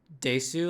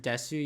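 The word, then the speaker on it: です: Just like when you have the word desu, like desu, you don't pronounce it desu, you pronounce it des.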